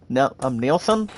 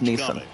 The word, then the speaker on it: Neeson: I mean, my point pronounces his last name, Nielsen. I'm like beautiful. I'm like sweetness. Here comes the Mets manager to the no, last name is pronounced Neeson.